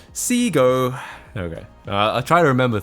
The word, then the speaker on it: Segoe: Japanese pronunciation now, and those letters would be pronounced Segoe in Japanese, but it's not a Japanese word, so it's wrong to say that. Seago.